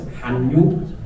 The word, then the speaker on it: Hallyu: That is, if in Hangul, the writing form is just pronouncing as Hallyu.